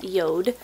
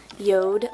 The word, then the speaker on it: Jord: on YouTube or Instagram before it looks like jordu is actually pronounced yoda yoda luxury wooden watches they're not paying me any